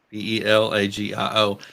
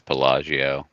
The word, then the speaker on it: Pelagio: email I think it's your name pelio p e l a g i o he don't know how to pronounce his last name is pelagio it is pelagio uh and you can also